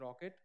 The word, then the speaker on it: rkt: from uh container d there's a one more runtime called rkt or we pronounce it as rocket so it is also